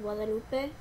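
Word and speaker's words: Guadalupe: pronounce your name um my name is gu Lupe but uh I prefer to be called Lupe or um that's pretty much how you pronounce that uh a second question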